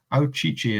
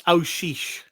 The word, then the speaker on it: Aouchiche: Adel Aichi is how I'm going to pronounce his surname. But Gav, welcome to the show. How you doing? I'm good. And it's Aish.